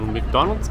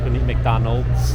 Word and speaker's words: McDonald's: Another tip, an important thing to learn, is the correct pronunciation to McDonald's. The M. It's not McDonald, there's an S, so, McDonald's.